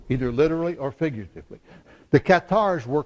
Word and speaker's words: cathare: worship Qatar all right the English word is cathari but we were missionaries in Qatar country and I learned Qatar so you're going to put up with my French pronunciation of it but what's interesting is